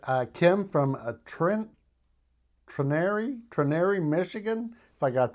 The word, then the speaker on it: Trenary: My town is very small and it's pronounced Trenary.